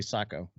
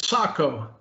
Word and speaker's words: Sako: or seiko sacco seiko how do you say that some people say seiko some people say psycho well officially at saco but we're americans we can say seiko can we not uh